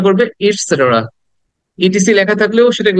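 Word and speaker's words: et cetera: উচ্চারণ হবে ইটস সেটেরা ইট সেটের ইট সেটেরা সেটের সেটের এটাকে দ্রুত বলতে হবে এখানে শর্ট সাউন্ড ইটসেটের ইটসেটের ওকে এটাকে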